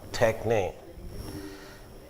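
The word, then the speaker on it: τέχνη: Yesterday you heard that, Professor, so you know that they don't have retroflexes, so they pronounce it as techne, grammatike. So that word, techne and grammatike, it means technique of writing.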